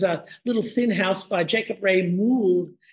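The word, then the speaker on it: Jacob Wrey Mould: This is a little thin house by Jacob Ray Mould, as I am told he was preferred to be, his name was preferred to be pronounced.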